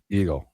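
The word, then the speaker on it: Igel: Eagle.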